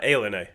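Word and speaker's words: ilani: Is that how you pronounce it? I've heard totally different. Alen. Yeah. Alen is how you pronounce it.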